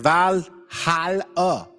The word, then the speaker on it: Valhalla: And it says Valhalla, pronounced Valhalla.